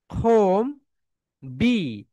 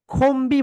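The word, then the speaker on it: comb: soldiers home খোম বি খোমবি বলবো না কারণ কেন বলতো একটা রুলস রয়েছে ওয়ার্ডের শেষ লেটার যদি এমবি হয় তাহলে বি কি থাকে সাইলেন্ট থাকে এখানে কি হবে বলতো খোম হবে মাই ডিয়ার সোলজার সবাই বলো এখানে হবে খোম এখানে কি হবে বলতো তাহলে একটু মাইডি সোলজার সবাই একটু লিখে রাখো ওয়ার্ডের শেষ লেটার যদি এম এন্ড বি হয় তাহলে বি লেটারটা সাইলেন্ট থাকে বি কি থাকে বলতো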